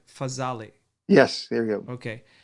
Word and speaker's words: Fazale: Fazale.